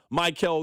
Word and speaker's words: Maikel: I'm going to call him Michael Garcia. The text line's going to try to correct me. I'll be like, "No, no, no. That's what he said. That's how we pronounce his name."